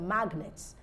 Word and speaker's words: magnets: you have the word magnets the G is pronounced all right even though